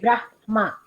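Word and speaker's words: ब्रह्म: The right way of pronunciation is ha half, then ma in full. Yeah. Okay. Brahma.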